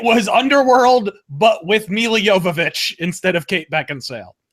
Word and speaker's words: Jovovich: And you already know, fucking, was Emilia Jovovich? I forget how to say it. Jovovich, yeah.